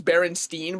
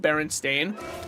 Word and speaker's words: Berenstain: I think people think it's Berenstein, but it's technically spelled Berenstain. And they go, but I swear it was spelled Berenstein. And it's like, I think you just pronounced it Berenstein your whole life, but it was always always spelled Berenstain.